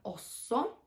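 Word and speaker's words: også: Złączone wymawiamy osso.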